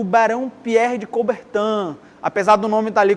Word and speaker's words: Coubertin: tem um cara chamado o barão Pierre de coubertin ann-a pesar do nome dali cobertinha o nome francês a gente pronuncia acobertando Pierre de E aí ele teve